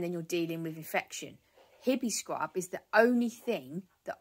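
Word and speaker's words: Hibiscrub: b i s c r u b so hippie scrub I get it from Amazon and a lot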